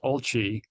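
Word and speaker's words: OLCI: for today it's pronounced oli not or because it was it's made in Italy was developed in Italy and when they have a CI they pronounce it chi oli.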